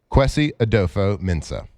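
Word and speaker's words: Kwesi Adofo-Mensah: Qui Adopo Mensah.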